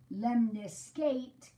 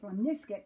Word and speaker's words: lemniscate: figure eight is that if I pronounce this wrong, lemniscate figure eight, it can help me remember the shape of a lemniscate. This is actually pronounced lemniscate, but we can say lemniscate figure 8.